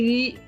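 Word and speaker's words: read: नजर आ रहे हैं, बट जब आप पास्ट में पढ़ रही हैं इट इज रेड. Spelling same होते हैं, इसको पढ़ते हैं आई रेड an interesting book. अब इसको जब फर्स्ट फॉर्म में लिखना है तो इट्स the same, spelling same है, सिर्फ प्रोनाउंसिएशन डिफरेंट हो जाती है.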